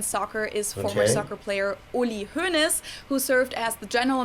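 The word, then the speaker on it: Hoeneß: an s and then the o e in his name is pronounced like the umlaut o letter so uh hunes and then of course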